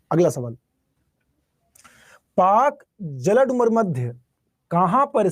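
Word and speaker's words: Palk: जल अ पाक जलसंधि ध्यान रखना पाक वो नहीं पीए के पाक पी ए एल के स्पेलिंग देखिए पाक पाक स्ट्रेट कहां पर इंडिया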